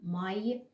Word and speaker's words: Mai: If we know that 'a' and 'i' is /ai/, so we easily say 'Mai'.